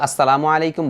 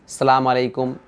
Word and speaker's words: আসসালামু আলাইকুম: শুধু আসসালামু আলাইকুম বললেও চলবে। তবে উচ্চারণে ভুল করা যাবে না। যেমন অনেকেই সালামু আলাইকুম।